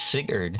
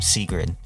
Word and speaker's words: Sigurd: And I finally got the pronunciation of Sigurd's name correctly, as in the other video I call him Sigrid.